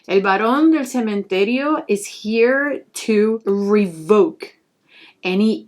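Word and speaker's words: El Barón del Cementerio: san elias i'm going to pronounce his name in spanish i'm not going to be saying elias or baron because that's no how i refer to this saying el baron del cementerio is here to revoke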